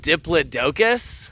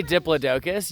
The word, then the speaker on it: Diplodocus: they are cousins to Diplodocus wait wait wait did you just pronounce it Diplodocus yeah not diplidocus oh my if you say Diplodocus you may unsubscribe right now from this channel it is Diplodocus these are cousins to